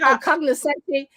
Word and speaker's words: cognoscente: Oh, I think cognoscente. That's just like the Italian version of connoisseur. You can say connoisseur, but it's like connoisseur.